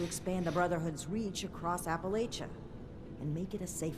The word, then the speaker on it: Appalachia: to see more of it let's talk about Appalachia it's a full land and the people are resourceful we will do everything we can to support this um okay you know it's pronounced Appalachia right ah did I slip up again old